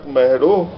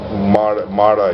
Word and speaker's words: Mehro: So here in Chak Mehro, the stupa is in the name of Mara. His real name is Mehro, mispronounced by Buddhists as Mara.